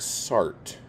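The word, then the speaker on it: Sartre: book or two by satra um yeah and and like I think sart is like that is a correct-ish way I've heard it pronounced I still think satra is like probably the best way to do it it's probably not right let's see Knute hamson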